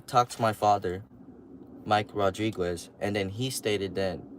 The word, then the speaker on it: Rodriquez: His name is Mike Rodriquez, something like that, pronounced Rodriguez, but instead of a D, there's a Q, U-E-Z, like Quez.